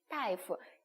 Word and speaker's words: 大夫: 大夫 의사 선생님이라는 표현이에요. 그래서 大가 아니라 어떻게 읽는다? 大夫 따이라고 읽는다는 거 꼭 기억을 해주세요.